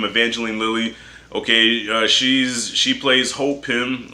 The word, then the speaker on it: Evangeline Lilly: Is how you say her name, Evangeline Lilly.